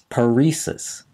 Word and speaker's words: paresis: that refers to partial paralysis or weakness is paresis hyphen p a r s i s the